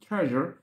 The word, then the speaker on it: treasure: Treasure لازم حرف الاسم ينطق ج زي جي كده.